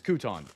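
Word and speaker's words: Kotoun: It's Couton, but it's spelled K-O-T-O-U-N.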